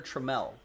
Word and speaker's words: Trammell: going to be taylor trammell trammell tremell i think it's alan trammell and taylor tremell is how he pronounces it rated prospect autograph pink